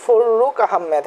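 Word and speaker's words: ফররুখ আহমদ: আচ্ছা, উপরে একটা জিনিস একটু বলে দেই, ফররুক আহমেদ। হ্যাঁ, যখন আমরা এখানে টাইপ করতে যাই তো র এর নিচে র চলে যাচ্ছিল, সেজন্য আমরা এখানে একটু ফাঁকা রাখছিলাম। এখানে উচ্চারণটা, এখানে গ্যাপটা হবে না।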